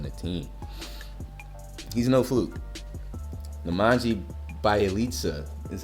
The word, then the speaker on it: Nemanja Bjelica: Nemanja Bjelica is how you say his name.